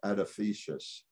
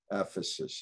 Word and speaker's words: Ephesus: it diana or artemis at a uh edifice ephesus is the proper thing i pronounce words all